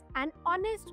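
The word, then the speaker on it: honest: आधी आपण अनन लावलाय नेक्स्ट ऑनेस्ट मॅन सो याच्यामध्ये प्रोनन्सिएशन ऑनेस्टचा स्पेलिंग मध्ये एच जरी असलं तरी प्रोनन्सिएशन मध्ये आहे विच इज बॉल साऊंड म्हणून आपण त्याच्या आधी अन लावलय आता कॉमन कन्फुजन कुठे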